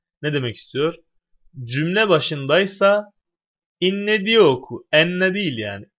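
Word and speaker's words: إنّ: diye tartışmalar yaygındır şimdi buradaki inne de Enne diye değil konumuz bu niye değil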